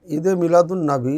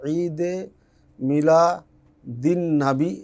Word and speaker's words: ঈদে মিলাদুন্নবী: আরবি বা ফারসিতে যদি উচ্চারণ করতে যাই তাহলে ঈদে মিলা দিন নাবী এভাবে পড়তে হবে। কিন্তু এটাকে আমরা ঈদে মিলাদুন্নবী পড়ি। এটা গ্রামারলি ঠিক নাই তার শব্দটাই ভুল